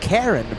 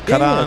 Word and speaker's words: Karan: It's not, here in the States, it's Karen, but in India, what's the correct way to pronounce it? Kareen? Could it be? Or Karan? Hold on. Is it Ayan? Karan. We're trying our best. Yeah, Karan, right? Karan. Karan? You know, like Iran is Karan.